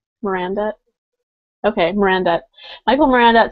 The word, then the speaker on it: Miranda: Mirandette? Mirandette? Okay, Miranda.